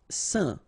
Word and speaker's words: saint: Saint. Alright, so final T not pronounced, and then when you combine this A-I-N here, you get the un sound.